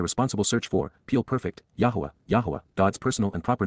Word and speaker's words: Yahowah: They will revere, Pakad, they will show profound respect for the awe-inspiring nature of, Kal perfect, Yahowah, an accurate pronunciation of God's personal and proper name as